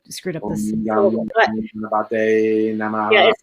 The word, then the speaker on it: Ganapataye: It's Om Gam Gamanate Namaha. I screwed up this. Om Gam Ganapataye Namaha.